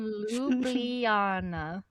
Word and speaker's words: Ljubljana: Not going to try to pronounce that. Lublana.